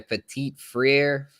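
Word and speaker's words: Petit-Frere: Petit Frere. I'm Yeah, not. Oh, okay. Petit Frere.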